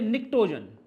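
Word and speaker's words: pnictogen: चलको जन चलकोजन जो ग्रुप 15 है इसे बोलते निक्टोन इसमें ध्यान रखना पी साइलेंट रहता है फिर हमारा ग्रुप है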